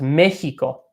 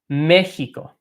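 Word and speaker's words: México: you Mexico as well it's spelled basically the same ways in English but it's pronounced quite differently okay so it's Mexico Mexico Mexico I'll point out I'll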